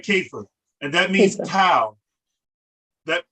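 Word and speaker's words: كيف: i'm giving you okay you pronounce that keifer and that means cow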